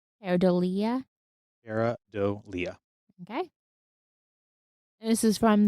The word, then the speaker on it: pareidolia: Yeah, I had pronounced it very differently, but it's Perodia.